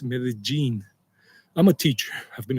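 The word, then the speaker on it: Medellín: That's why some people make a mistake and say Medellin. It's not Medellin, as most of you already know, it's Medellin.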